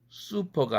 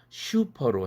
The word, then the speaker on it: 수퍼: 일어날 음성 환경이 아니죠 고로 쑤 퍼 이렇게 발음해야 되는건데 하우스 안들은 닿아 슈퍼 슈퍼마켓 슈퍼에 가서 뭐 좀 사와라 이렇게 얘기하죠 슈퍼 슈퍼 모델이 됐다고 이것 잘못 발음하는 경향이 있는데 바람직하지 않습니다 다음은 쓰 달희 유로